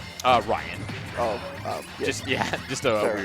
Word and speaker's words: Raiyihn: been going crazy with it how do you pronounce the snake's name uh Ryan oh oh just yeah just spelling all right